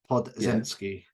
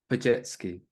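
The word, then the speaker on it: Podziemski: I've set you up to fail on that one because that last name is one of those European. Well, I assume it's European that doesn't actually pronounce how it looks. So it's Brandon Pajetsky.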